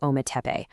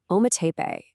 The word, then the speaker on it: Ometepe: Well, today we're diving into Ometepe, a place where two incredible mountains tell one epic story. So in the ancient Nahuatl language, Ometepe, and you say it like Ome-te-pe, it literally means two mountains.